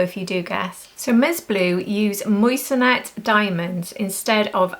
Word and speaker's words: MSBLU: so you can see it looks like Ms blue but it's actually pronounced M blue or Miss blue and these are more